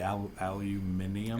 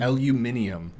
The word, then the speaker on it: aluminium: They're the same people that say aluminium aluminium. But to be fair to them, and usually I'm not fair to them. But I'll give them this one. It is spelled with the extra I.